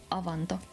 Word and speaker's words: avanto: This is how you say it, avanto. Not Here's how it Abanto.